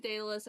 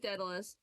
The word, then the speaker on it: Daedalus: I know some people pronounce it Daedalus. I'm pronouncing it Daedalus. I don't care.